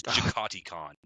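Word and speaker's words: Jaghatai Khan: It is not Yagati Khan, Yagati Khan. It's Jakati Khan because they're British.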